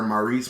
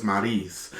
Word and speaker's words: Maryse: doing this interview and they kept calling her maurice maurice maurice and she said no my name is marise so ever since then